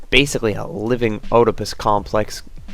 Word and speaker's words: Oedipus: I know, it's pronounced Oedipus.